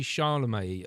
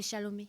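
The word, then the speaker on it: Chalamet: Well, uh, Timothy Charlemagne, am I pronouncing that right? Timothy Shalom.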